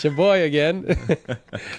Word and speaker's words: Sheboygan: How do you even pronounce that? It's shaboy again.